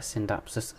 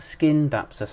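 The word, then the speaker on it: Scindapsus: i think is called a synthapsis skin dapsus i keep saying it wrong it's skindapsus silverlady i think and then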